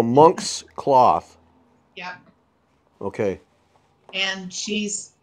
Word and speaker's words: Monk's Cloth: It was coming out as Mons Cloth, so that's why. So Monx Cloth.